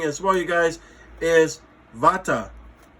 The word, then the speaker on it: Vata: well you guys is Vata people say Vada as somebody say Veda doesn't matter pronunciation isn't really the uh the circumstance but